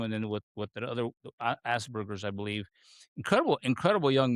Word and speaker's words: Asperger's: The term Asperger's? Am I pronouncing it correct?